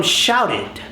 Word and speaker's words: shouted: That ra, the R, that sound, para, ra, is the same sound from shouted.